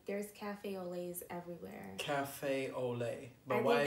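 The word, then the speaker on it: au lait: that's like the typical name like there's cafe olay's everywhere cafe olay my wife has an a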